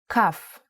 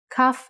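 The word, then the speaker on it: כף: Kaf actually is only pronounced like K when it has a dot inside. Just like Bet only has the B sound when it has this dot. Without the dot, it sounds like Ch. Chaf.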